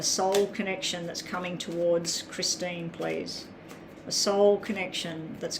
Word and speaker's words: Christine: Your name's Christine. Okay, so it's Teen, is it? It's Teen, not pronounced Tyne.